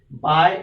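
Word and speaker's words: 百: It's actually, the pronunciation is same as in English. We say by, but it's not actually that one by, but just the pronunciation we can use the same as English.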